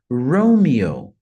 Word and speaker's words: Romeo: forte a letra R Romeo Romeo Então a primeira sílaba a mais forte ah e o